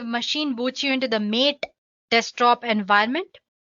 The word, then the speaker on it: MATE: boots you into the mate desktop environment let me pronounce it ma T you can call it whatever you want Marte or meet the stop environment so